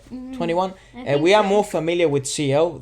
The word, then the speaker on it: 2NE1: um and like that is how you pronounce the name right 21.